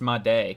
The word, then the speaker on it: Made: Oh, it's pronounced Made, Kevin Made.